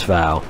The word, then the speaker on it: Fao: this case is Fortress Fao, which Fao is just another pronunciation for fall from the Al-Fal Peninsula, which is, I'm sure, where the developers got it.